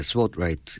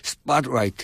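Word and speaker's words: Spotlight: 라이트입니다음 어 보도네 뭐 저 저 발음 그대로 하면 스포라이트 예 저도 요즘 여기 와서 영화 발음을 좀 제대로 배고 있라 스팟라이트 왜 우리가 스팟라이트 하기는 우파가 되는 거고 스팟라이트 예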